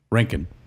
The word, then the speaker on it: Roentgen: got my buddy Rankin. Thanks for here. bringing it back. Rock and roll Rankin. Rankin. But it's not spelled like Rankin and Bass. Scream it out. Like a silent O.